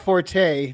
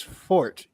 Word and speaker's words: forte: Oh, it's not Forte. The correct pronunciation is Fort, even though it's spelled Forte. Really? I've always heard people say Forte. I heard Forte. Well, you say I forte don't know. as in it's not my forte, it's not his forte, but fort, Yeah.